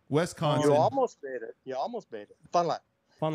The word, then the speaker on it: Fond du Lac: Fond du Lac. Fun like one syllable.